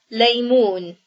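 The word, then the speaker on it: ليمون: So O for the dhamma, and O for the waw. Now we read it, laymoon.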